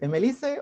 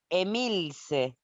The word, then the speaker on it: Emilce: ¿Emelice o Emelis? ¿Cómo es? Emilce, Emilce.